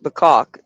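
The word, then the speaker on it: Bacach: Um, uh, B A C A C H Bok is how it's spelled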